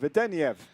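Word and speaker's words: Vedeneyev: Vedeniev.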